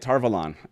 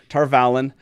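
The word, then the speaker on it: Tar Valon: of the word tarvalon that's right tarvalon not tarvalen so if taylor can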